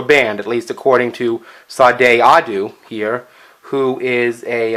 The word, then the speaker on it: Sade: The artist I'm going to be profiling today is actually, if I understand it, it's pronounced Sade, but everybody pronounces it Sade.